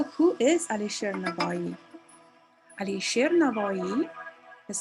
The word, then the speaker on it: Navoi: Alisher Navoi is spelled in differently. In Uzbek we say Navoi. In English people use with W as well. So both are correct.